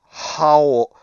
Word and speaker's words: Haull: On the main howl Howl because of the castle. because it's spelled Haull.